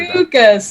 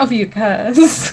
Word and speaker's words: Ophiuchus: The emphasis is on the third syllable. I do not, Julian. How dare you? How dare you? I love your character. Ophiuchus, not Ophiuchus.